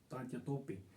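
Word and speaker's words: तात्या टोपे: में, उसका नाम था तांत्या तोपे कहते हैं, better to pronounce it तांत्या तोपे।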